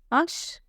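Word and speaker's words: hache: French में क्या बोलेंगे अश please write down in in chat box की एच विल बी साइलेंट और नॉट इन फ्रिच ओके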